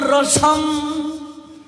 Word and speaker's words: রসম: সমর্পিয়ত উন্নত উজ্জ্বল রসম সভক্তি শ্রিয়ম। সমর্পিয়তুম, সমর্পিয়তুম অর্থটি হচ্ছে দান করার জন্য। উন্নত উজ্জ্বল রসাম, অনুসারের উচ্চারণ ম হবে সংস্কৃতে।